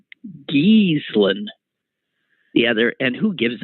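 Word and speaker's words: Ghislaine: an english pronunciation uh the proper pronunciation of ms maxwell's name is jeez lane but i don't think that's how she pronounces it and i swear i heard somebody say giesland the other and who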